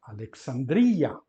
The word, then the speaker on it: Alexandria: nome da cidade Alexsandra mas como aquele ex da penúltima sílaba Isso significa que ele é em latim vai dar origem e como é um e longo na penúltima sílaba uma longa na penúltima sílaba em latim mantém-se então fica Alexandria e assim ficou em português Alexandria Depois temos o Euclides não